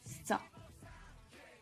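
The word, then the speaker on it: 소: Une vache, cela va se prononcer sa et s'écrire ainsi.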